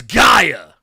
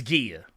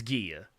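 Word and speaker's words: Gaea: here's the thing so when the name is spelled g-e or not g e g a e a it's Gia you can look it up it's Gia um sometimes even Gia uh and when it's spelled g-a-i-a sure maybe I don't know I don't care uh but the thing is it's Greek it's not English so keep that in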